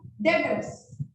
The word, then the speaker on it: debtors: ठीक है, other than this we can have डेटर्स। यस, one more new word, डेटर्स। Spelling आपको दिख रही है क्लियरली, DEBTORS, डेटर्स। इसको लिखते हैं डेबिटर्स, बोलते हैं डेटर्स। बी is silent, B को नहीं बोलना, क्या बोलना है?